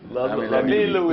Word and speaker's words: L'Ami Louis: Je sais même pas comment ça se prononce. Vous savez, vous? L'ami Louis.